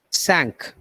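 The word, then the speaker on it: cinq: keep the rest katru number five is pronounced as sank sank which remember the word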